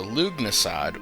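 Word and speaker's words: Lughnasadh: to Leonardo okay so lug nasad which I believe is the correct pronunciation of that I don't know why there are so many silent hes in that uh Bow's name but lug NAD um yeah if you're counting that's two silent H's um anyway very good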